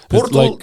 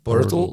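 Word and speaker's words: Pöltl: Is it Portl, like, Portl, technically. At least what I watched the video on YouTube, but it's not like from Austrians, I don't know, but it's like turtle, like Portl, yeah, okay.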